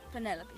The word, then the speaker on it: Penelope: Officially, yes, but I never can be bothered with all 4 syllables. Penny Penelope sounds a little ostentatious coming out of the mouth.